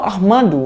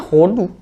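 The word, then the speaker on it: הודו: Kalau Ahmadu harus ada huruf mem di situ, benar nggak? Madu, harus ada memnya. Tapi di sini loh nggak ada. Di sini hanya memakai he sama dalet. Ya langsung bacanya Hodu. Nggak ada lagi Ahmadu di situ. Kalau misalnya di situ ada he, ada mem, ada dalet, itu bisa menjadi mungkin Ahmadu. Tapi di sini kan nggak ada memnya, itu nggak ada.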